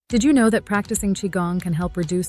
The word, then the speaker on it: Qigong: something beneficial for everyone chiong pronounced chiong has Origins dating back